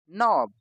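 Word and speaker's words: knob: आई एन G knitting के एन ओ बी नोब के एन ओ सी के नॉक के एन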